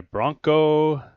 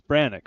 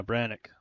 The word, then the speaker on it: Brannick: Kick is good by Bronco Jamison. Or no. Is that Bronco? No. How do you say that? Brannick? I'm dyslexic. It's Brannick, right? Yeah, Brannick. Sorry, Brannick.